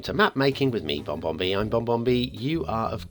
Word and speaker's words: BonBonB: Like if you think the last two letters in my name are N and B, BonBonB. How is that pronounced? If you've never heard my name said before, well, the word bomb, B-O-M-B, ends with an M and a B. So is BonBonB BonBonB? No, it's not.